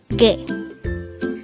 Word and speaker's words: 개: at day hangle word number 109 g g this word is composed of just one syllable pronounce it with me G G the